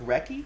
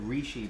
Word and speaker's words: Recchi: What was his pronunciation again? Mark Recchi? I think I said Rishi before.